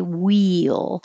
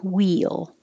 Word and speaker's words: wheel: board ironing board wheel so you're going very high for the wii and then you slide down and make a y wheel so don't make it two separate syllables like i have here we you'll but slide it together wheel will this is